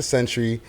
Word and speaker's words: Zentury: Century. It is just She just spelled it like that. Spelled like Zena. Not pronounced like Zena. Century Sam. No. Shout out to Century.